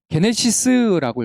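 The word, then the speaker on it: γένεσις: 그런데 여기서 나심이라고 기록된 이 단어를 원어로 읽게 되면 어떻게 읽냐면 게네시스라고 읽어요.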